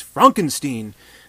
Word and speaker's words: Frankenstein: much so that he's like no you don't pronounce it like that it's it's Frankenstein things like that but ultimately he does have